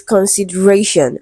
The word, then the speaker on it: consideration: So, the word is stressed on the syllable before sh. Okay. And this rule is quite consistent with other words. Okay. Examination. Okay. beautifification. Okay, so words that end with shan are usually stressed on the syllable before it.